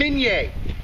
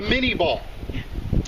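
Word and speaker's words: Minié: took a french captain named menye to come up with the menier ball or as we americans love to pronounce things the way they're spelled the mini ball the most popular bullet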